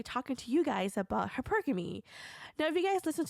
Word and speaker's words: hypergamy: The way to pronounce this word is hypergamy, not hypergamy. Okay.